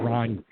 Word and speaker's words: Ragni: and I think I'm pretty sure in Italy they pronounce it Ragni. Ragni. That's like spiders.